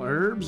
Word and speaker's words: herb: that's good you know I always thought herb was how you say it but you can also say herb like the H doesn't have to be silent it really just depends I guess I remember